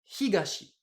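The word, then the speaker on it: 東: Comme il est tout seul, j'utilise bien la lecture purement japonaise et du coup je prononce ça higashi.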